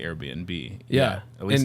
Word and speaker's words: Airbnb: that you're like, hey, it's Airbnb. Like the word air and B&B, like bed and breakfast.